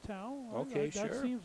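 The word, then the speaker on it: Teu: Now the PA announcer pronounced the last name Tau on the ball carrier on 38. T-E-U. So we'll go with Tau.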